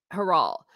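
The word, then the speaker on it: Harald: 1644 so that's how heral now I do know you do not pronounce the d in in the language that's why I'm calling him heral and it also helps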